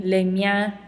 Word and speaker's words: les miens: And as a reminder, surprise, we do not pronounce this S at the end. So I could read these all off to you again, but they will sound the same. Les miens, les miennes, les tiens, les tiennes.